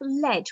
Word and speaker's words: lead: used as lead then we have lead which rhymes with fed now that's a heavy